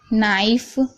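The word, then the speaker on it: knife: जैसे कि नो, नॉट, नाइफ, knock. तो यहाँ पर देखिए शुरू में सबसे पहले के आ रहा है, उसके बाद एन आ रहा है, तो इन सभी वर्डों में के साइलेंट है।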